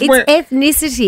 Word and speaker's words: ethnicity: It's no, it's ethnicity, isn't it? Ethnicity. It's because they put it in your mind and you start saying it the wrong How way. How do you say it, Mary? Ethnicity. Ethnicity. Yeah, almost got there.